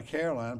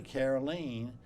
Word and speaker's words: Caroleene: never seen it before people want to call her Caroline probably did all of her life but it's really carolene and uh tell our